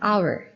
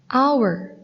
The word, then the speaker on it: hour: But how to pronounce them? Repeat after me. House, house. Hour, hour. Uncle, uncle. University, university. So, do you find the difference?